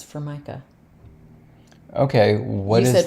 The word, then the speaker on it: Formica: It's Formica. Okay, what is that? You said Formica. It's Formica.